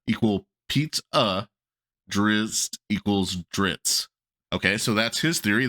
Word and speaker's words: Drizzt: be settled is pronounced dritz Dr R TS is how this person is saying now his theory is the double z has the same sound as the word pizza and here's what he